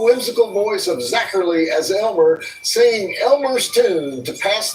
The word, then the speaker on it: Aylmer: The creature's name, as we learned from that of his thousands of years of mischief on the planet, is spelled Aylmer, so Aylmer, but it's pronounced Elmer.